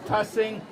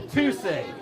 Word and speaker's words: Tussing: So on this inaugural T-shirt, we had the number 2 and the word sing on it to get people to change the pronunciation from Tussing to Tussing, which we support today.